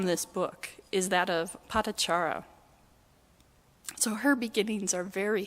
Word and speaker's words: Patachara: And one other story from this book is that of Patachara.